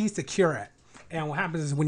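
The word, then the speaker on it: Kyrat: called I don't know how to pronounce it curat k-y-r-a-t well Aaron's good with words how do you pronounce it Aaron you know okay okay cure it and what happens is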